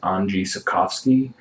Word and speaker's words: Andrzej Sapkowski: of novels written by, I'm going to pronounce this horribly wrong, so I am sorry, but I do believe it's pronounced Andrzej Sapkowski, a Polish writer.